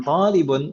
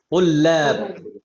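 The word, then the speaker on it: طلاب: Dan di sini ini bukan talibun tapi bacanya tullab. Tullab. Ini bentuk jamak dari talib. Jamak talib itu tullab.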